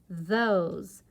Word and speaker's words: those: Those. O's. It rhymes with rose.